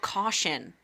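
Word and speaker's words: Kashin: night so he's invited castion is one of the the oh cashion oh she pronounces it in the audio book caution which was making me infuriated care like yes she was pronouncing it caution funny so I'm going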